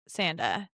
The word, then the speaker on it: Sanda: Okay, so break down, I know you said it kind of quickly, but break down the strikes that are legal within Sanda. And it's Sanda, Right.